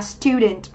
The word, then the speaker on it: student: Và đáp án D thì chúng ta có danh từ học sinh, chúng ta có trọng âm rơi âm tiết thứ nhất, đọc là student.